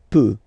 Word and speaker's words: peut: Then, il, elle peut. So you will put T at the end, you don't pronounce it.